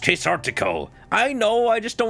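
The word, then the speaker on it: Quasartico: So, you and I got to head to case queserto, Inc. office. I refuse to learn what that's actually called. Menock. What? It's pronounced quesartico.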